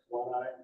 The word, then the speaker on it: guanine: Kind of like guana is for bats, guanine is for, and I may be pronouncing it wrong. It's spelled exactly like iguana for bats, except I-N-E on the end. Guanine. How do you say it? Guanine.